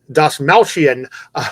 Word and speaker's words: Dastmalchian: Dastmalchian.